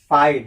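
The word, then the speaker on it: fight: फाइट, जीएस क्या होगा?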